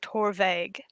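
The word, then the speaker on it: Torabhaig: uh i'm pretty sure the first a is silent so i think it's tour vague interesting and uh arena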